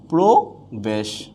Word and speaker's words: প্রবেশ: এখানে আমরা পেলাম কি, রফলা যদি শব্দের আদিতে থাকে, আদি বর্ণের সাথে থাকে, তাহলে এটা কি হয়ে যাবে, ওকার হয়ে যাবে।